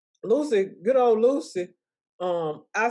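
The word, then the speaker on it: Lusia: i hope i'm saying her name right it's lucy it's spelled lucille but it's pronounced lucy good old lucy um i saw her whole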